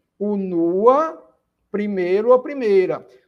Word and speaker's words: unua: Unua, primeiro ou primeira. Observe que quando eu digo unua, a sílaba forte agora passa a ser o segundo U, não é?